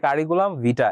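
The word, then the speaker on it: curriculum vitae: এখানে ভিটার ই যে এটা হচ্ছে ই সাউন্ডটা হচ্ছে হিডেন, কিন্তু লেখার সময় ই থাকবে, ঠিক আছে। কারিকুলাম ভিটা, এটার প্রোনাউন্সিয়েশন হবে কারিকুলাম ভিটা।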